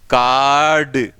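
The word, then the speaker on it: card: जैसे मैं बोलूं, देखिए कार्ड कार्ड, तो it sems I have pronounced but to reaching you the sound it diminish, तो आप तक पहुंचते पहुंचते साउंड बहुत हल्की पड़ जाती है, ऐसा लगता है कि मैंने इसका उच्चारण किया है लेकिन वो आपको सुन नहीं रहा है। ऐसा इसलिए लगता है क्योंकि लॉन्ग साउंड है, इसलिए कार्ड।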